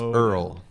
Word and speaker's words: URL: is pronounced Earl.